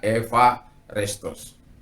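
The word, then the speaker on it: εὐάρεστος: Jadi eparestos to theo itu adalah jadi kalau nulisnya restos ya, bacanya Eva restos. Jadi kalau saya belajar baca bahasa Yunani, saya membacanya dengan pronunciation-nya saja. Jadi tidak apa, saya ulang ya, ewa itu dibaca jadi F.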